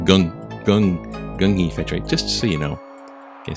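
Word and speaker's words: Gung Hay Fat Choy: Gung fat choi. Even it says it's K, right? Like it's in Kung Fu. It's G. Pronounced like gung fat choi.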